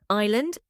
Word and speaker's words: island: what's the silent letter answer ET t two Island jazer what's the silent letter answer S 3 hour Sarah what's the